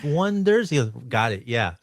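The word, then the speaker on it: Oneders: So in the movie, the band's name is called The Wonders, but they spell it with an O-N-E, as in Wonders. Yeah, but everyone gets it wrong, and they call them the Oneaters.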